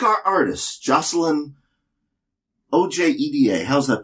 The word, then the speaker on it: Ojeda: like our artist, Jocelyn O-J-E-D-A. How's that pronounced? I'm sorry, what? O-J-E-D-A. The J is a Y. Ojeda? The J is a Y, like Yennefer.